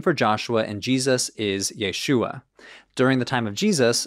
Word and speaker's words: Yeshu: think it's likely that if you want to have a really strong Galilean accent and say Jesus you're gonna get yeshu with two short vowels and no iron the iron might have